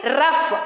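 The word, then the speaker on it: rough: ओ is being silent next word is रफ आर ओ यू जी H there is the combination of ओ एंड you which sound we are pronounce a रफ वी आर not saying रफ what we are saying रफ सो ओ is being silent in that words so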